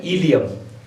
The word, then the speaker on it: ileum: Spelling पे गौर कीजिएगा, ILEUM, इलियम।